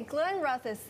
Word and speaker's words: Glenrothes: 最好的就是它这个价格也不是很贵，因为它在这个法国也算是从法国来的一个很好的品牌呢，它只卖12块9毛5，就是这4种酒卖12块9毛5，然后这种酒因为它是 organic 就贵1块钱。要卖13块9毛5，所以呢，虽然说您看它是这样的包装，但是其实它是，算是物美又价廉，也是非常好的。Okay, so let's go to the Glenrothes. Did I pronounce well it right? done. Yep. Okay, because I know nothing about whiskey. Okay, Glenrothes.